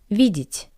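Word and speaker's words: видеть: Since the wall yeah is unstressed I pronounce it as e vit vit to see vit.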